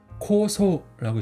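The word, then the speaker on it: 酵素: 해서 우리말로 그대로 효소예요 그래서 발음은 코소라고 있습니다 그다음에 이한자는 뭘까요 시세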